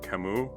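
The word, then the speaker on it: Camus: his name is Albert Kimu. It's spelled Cis, but it's pronounced Kimu because it's French and French people just like to like do something weird with letters at the end there.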